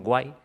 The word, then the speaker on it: UAI: unidad automatización inteligente la White vale se escribe uai pero internamente decimos Guay con g y esta unidad está